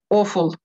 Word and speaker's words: awful: Awful. Да, и ударение на первый слог.